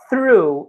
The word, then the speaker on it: through: de um pequeno erro, through, essa palavra é difícil um pouco de pronunciar, mas ela é com TH, é importante vocês tentarem pronunciar ela da forma correta, mas eu sei que às vezes no início é um pouco complicado, então você pode falar ali com F, tá?